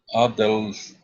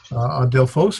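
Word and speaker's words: ἀδελφός: Adelphos. Adelphos. Phos, yes. Adelphos or Adelphos. I think either way works.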